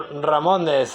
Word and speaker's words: Ramones: And in Spain, we say Ramon. And the plural is Ramones. So Ramones is the correct way to say the name of this band. If you say Ramones to a Spanish speaker, he or she may think that you are silly. So remember, Ramones.